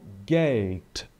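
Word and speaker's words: Geld: tá aqui por exemplo a palavra dinheiro nós dizemos em alemão GATE GATE Ok nada de G Gate como se fosse um t mesmo tá distância e Aqui nós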